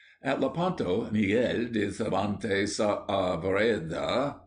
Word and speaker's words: Saavedra: At Lepanto, Miguel de Cervantes Saavedra, please pronounce the A's separately, was about 25 years of age, and was lying below deck, sick of a fever.